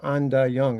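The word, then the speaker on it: Ain Dah Yung: And then the following year, I got a job at this place called Anda Young. It's spelled AIN.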